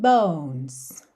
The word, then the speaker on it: bones: Oh, yeah, your skin and bones. Bones. Não pronuncia a letra E, tá bem?